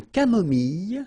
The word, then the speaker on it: camomille: Un thé nature, une tisane, une camomille. So remember when we get this E and then double L, it goes like y. Mille, camomille, une camomille, un